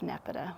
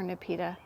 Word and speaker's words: Nepeta: Love Nepeta, one of my favorite, or Nepeta. I've heard it pronounced both ways.